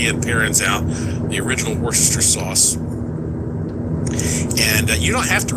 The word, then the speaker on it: Worcestershire sauce: I know that some people look at how it's spelled and they think it's called Worcestershire sauce, but no, it's it's pronounced Worcester sauce.